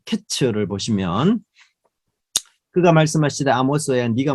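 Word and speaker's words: קץ: 발음으로. 그러니까 여름 과일은 카이츠 끝이 됐다는 것은 캐츠.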